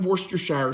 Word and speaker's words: Worcestershire: of Worster shower sauce if I mispronounced it you don't have to correct me nobody that I know says it correctly but I call it worst your shower sauce you're going to